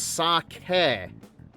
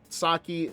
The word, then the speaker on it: sake: It's sake. Sake.